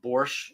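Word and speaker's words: borsch: or third class that borch is pronounced without a t on the end right our teacher was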